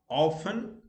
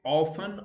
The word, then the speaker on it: often: go make tea silent where t may or may not be pronounced okay often but it it pronounce both ways often or often it depends upon you where w is silent